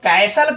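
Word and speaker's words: castle: लेकिन अगर आप इसको कैसल कह रहे हो तो आपका ये बिल्कुल ही सही है। क्योंकि यहां जो टी है ना वो टी आपका क्या हो रहा है? टी आपका साइलेंट हो जा रहा है। ठीक है? इसमें टी साइलेंट जैसे अगर हम कहें ठीक है?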